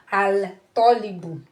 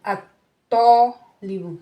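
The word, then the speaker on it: الطالب: wazal, this alif lam, the pronunciation of this alif lam is going to be assimilated into the to. You are not going to say al tolibu. No, it's going to be at tolibu.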